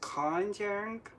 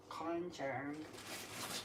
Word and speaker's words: konjac: So Um, I also substituted the gelatin powder called for with what is called, I think that's pronounced konjac or glucosamine.